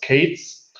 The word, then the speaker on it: k3s: then there is uh k3s um pronounced Kates um uh and um